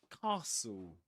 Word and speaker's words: castle: So we say castle. Castle. Pretend it's spelled like this. like this. Let me see if I can There we go. Yeah. The trick is to pretend that it's spelled like this.